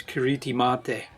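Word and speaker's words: Kiritimati: uh gilberti language and their pronunciation of Christmas is um as the name as the name of the island is ktim mate and that's how it's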